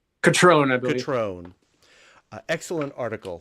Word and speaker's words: Cutrone: The title is A Walk on the Wild Side, and stereo photographs made by Ronnie Cutrone. Did I pronounce that right? Catrone, I believe.